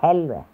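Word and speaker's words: حلوة: No, Helwe. Puta, con Hel... La H se pronuncia como Ha, como Halge. En alemán.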